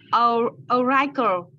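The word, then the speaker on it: auricle: Oracle. It means so pioneer. So this is an exception to the common rule. So the I here is actually pronounced as E or like kind of R. So oracle.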